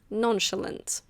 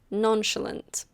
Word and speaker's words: nonchalant: This one is nonchalant. Nonchulant. It comes from French, but we pronounce it a bit differently.